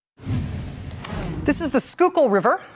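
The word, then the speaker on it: Schuylkill: this River which looks like it should be pronounced shil kill or maybe Sky kill and if you can say it right if you can look at that and say oh yeah the skookul boom you're from Philly easy well right now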